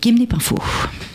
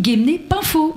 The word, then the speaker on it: Guémené-Penfao: Isabelle Baraton, maire de Gemenne Pinfo. Merci Clara et on dit Gemn Pinfo mais c'est pas grave, je vous pardonne pour cette erreur.